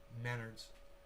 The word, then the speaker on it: Menards: other just google those students together and it's pronounced menards oh menards really not important though yeah it's